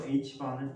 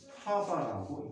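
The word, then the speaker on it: ħ: 그래서 H바는 2분의 H라고 하고 H바 또는 하바라고 읽는다. 독일어에서 하바야. 자, 불확정성 원리를 써보면 다음과 같다.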